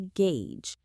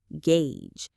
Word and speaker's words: gauge: This act of judging or assessing the situation is called to gauge. The pronunciation is simple. It's just one syllable, and it sounds exactly like it's spelled. Gauge.